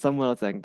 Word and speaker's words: Samuel Zheng: honored guest today is, and please forgive me if I pronounce the not correctly, Samuel Zheng. Is it correct Yes, pronunciation? yes, yes, exactly right. It's Samuel Zheng.